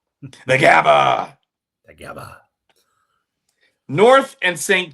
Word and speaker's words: Gabba: The Gabba. Thank you. That's the correct way. That's the correct pronunciation. The Gabba.